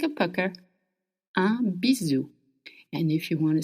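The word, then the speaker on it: bisou: Now, if you want to send someone a little kiss, a bizu, a bizu, it's spelled b i s o u. And s between two vowels in French makes the sound z.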